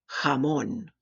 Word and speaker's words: jamón: Where there are some regional differences, the Spanish letter J sounds like a hard H. We've already seen one of these words, so pronounce after me. Ojo, ojo. Jamón, jamón.